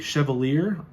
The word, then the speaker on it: Chevalier: weeks ago or so the chevalier i think is how you pronounce it it's like a french term um came out and